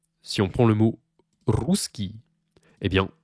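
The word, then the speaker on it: русский: on prend le mot ruskii et bien c'est pas ruskii Ruski ruskii rus non c'est Rusk Rusk Ruski voyez on on accentue bien le rou ruskii ruskii ruskii voyez je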